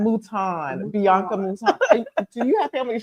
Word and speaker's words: Mouton: It's Mouton. Mouton.